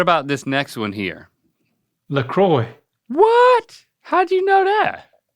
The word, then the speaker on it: La Croix: No, you'd say, you wouldn't say the X. LaCroix. Closer. And the R would be a W.